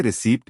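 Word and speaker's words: receipt: जैसे रिसीप्ट में P silent है और कोब डेट में बी साइलेंट है।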